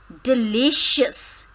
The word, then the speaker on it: delicious: Stress is on the second, it comes on the second when you pronounce this word as delicious. Li. So stress comes on the second syllable, that is li.